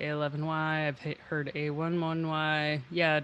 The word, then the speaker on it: a11y: I've heard it pronounced every way, like A11Y, ally, accessibility.